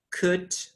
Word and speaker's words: could: in could should would remember that the l sound is not pronounced so we say could should would and of course we've